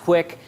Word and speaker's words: QUIC: I'm going to, no pun intended, um, then we'll talk about a little more later, but it's pronounced quick.